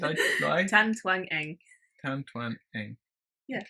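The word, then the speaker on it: Tan Twan Eng: Tan Twang Eng. Yeah. Okay. Like it's spelled.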